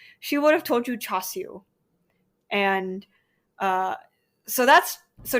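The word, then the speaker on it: char siu: my favorite food she would have told you chasu and uh so that's so chasu is the Cantonese pronunciation the Mandarin pronunciation is chasa um my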